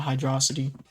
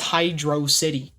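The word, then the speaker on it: Hydrocity: It's not Hydroity. It's It's spelled Hydro City. In what universe would it be Hydroity? It's Hydro City.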